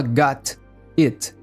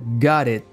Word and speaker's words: got it: A letra T entre duas vogais fica com o som de R, então não fala got it. Fica got it, got it.